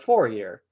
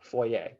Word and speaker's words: Fourier: notice i said fourier transform it looks like four year but that's not what how you pronounce that word uh so foyer um and you'll have